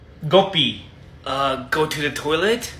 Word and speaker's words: Gopi: my name is Gopi why are you pronouncing like Gopi it's Gopi not go pee hey guys check it